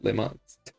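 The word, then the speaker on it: Le Mans: Les Mans should be pronounced in French, so it's pretty accurate. Oh, Les Mans.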